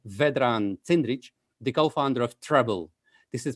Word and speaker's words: Treblle: guest today is vedran tindrich the co-founder of treble this is pronounced as treble t-r-e-b-l-e this is an api management platform and they